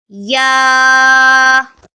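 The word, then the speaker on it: ي: read after me yeah comes from the middle of the tongue to pronounce ya ya for more kaida videos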